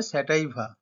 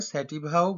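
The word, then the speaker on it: sativa: নাম কি দেখো ওরাইজা স্যাটাইভা বা এটা ওরাইজা স্যাটিভাও বলতে পারো ইংলিশে এর স্পেলিং হলো ও আর ওয়াই জেড এ ওরাইজা আর স্যাটাইভা বা স্যাটিভা যেরকম তোমাদের সুবিধা হয় উচ্চারণ করতে পারো কিন্তু বানানটা দেখো এস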